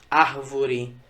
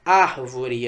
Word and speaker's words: árvore: Exemplos de proparoxítona: árvore. Veja, a sílaba tônica nem foi a última, o re, nem foi a penúltima, o vo, e sim o ar, árvore, antepenúltima.